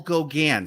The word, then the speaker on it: Gauguin: So that is how we say it. Yes. Paul Gauguin. So yes. Ignore how you would pronounce it. Typically here, it's Paul Gauguin.